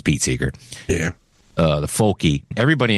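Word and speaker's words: Seeger: how do you say it Pete Seager it's Pete Seager yeah uh the folky everybody in it was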